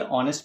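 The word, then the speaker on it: honest: ऑनेस्ट मैन स्प ूथ अब इसको भी हम क्या पढ़ेंगे ऑनेस्ट पढ़ेंगे यानी कि एच है साइलेंट है ओ से शुरू हो रहे हैं ऑनेस्ट में ओ स्वर हो गया अब आप देखिए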